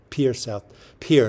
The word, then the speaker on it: Pierre: Pierre, not Pierre, I guess, even though it's spelled that way.